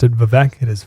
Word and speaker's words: Vivek: I always pronounced it Vivek. It is Vivek.